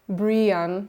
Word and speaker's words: Brienne: winner earlier this month Brian pronounced Brienne so Brienne a 19